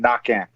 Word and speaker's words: Naquin: say it right now Cajun French the Q is a k the N is silent at the end knocking and uh but I